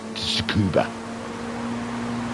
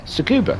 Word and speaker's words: Tsukuba: can only be described as a very wet scuba. Tsukuba? Am I saying it right? Let me have a look. What's the track called? Where would it say the name of the track? Yeah, Tsukuba.